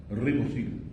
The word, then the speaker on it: ribosil: fosforibosil, Ribosil. ribosil, Te faltó la R pronunciar mejor.